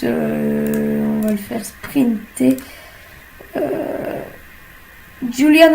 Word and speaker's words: Julian: Julian Alaphilippe, comme certains disent, moi je l'appelle Julien. Chacun sa prononciation.